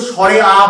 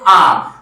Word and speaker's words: আ: ঠিক তেমন এই যে বর্ণটা, এর উচ্চারণটা কি, ধ্বনিটার উচ্চারণটা কি, এর উচ্চারণটা হচ্ছে আ, কখনোই কিন্তু স্বরে আ বলা যাবে না, শুধু বলতে হবে আ।